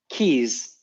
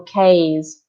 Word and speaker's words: keys: So if you have EY in English, so let's think of a very famous celebrity like George Clooney. Mm, It's going to be pronounced as E.